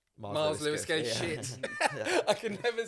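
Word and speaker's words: Myles Lewis-Skelly: Just like go and enjoy, Which is why we like the Miles Skelly. Did I get his name right? Miles Lewis Skelly.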